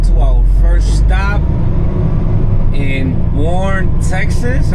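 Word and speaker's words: Boerne: Let's get to our first stop in Bourne, Texas. I think that's how you pronounce it. Bourne, B-O-E-R-N-E, I believe.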